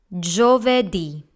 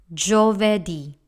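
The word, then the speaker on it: giovedì: and now we have Java D that's Thursday in English so this word has three syllables starting off with jaw followed by there and then D that's Java D next we have venerdi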